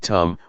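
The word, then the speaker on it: ธรรม: we see this now the damma in Tai pronounced in the same way as the word tum which means to do refers to Nature that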